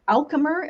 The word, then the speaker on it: Alchemr: topics our favorite topics so your company alchemer if i got that correctly pronunciated that's correct thank you welcome to